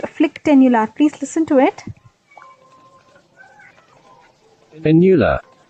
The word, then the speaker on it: phlyctenular: this video we want to look at this flick tular kerato conjunc vitis look at the spelling here